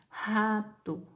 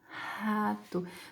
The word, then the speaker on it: rato: No nosso dialeto, nós pronunciamos essa palavra geralmente com R glotal, tá? Que é rato, rato.